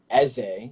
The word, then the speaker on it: Eze: Yeah, I'm Igbo, and so in the Igbo language, Eze, which is the actual pronunciation, means king, and so like kind of like our business strategy is war based.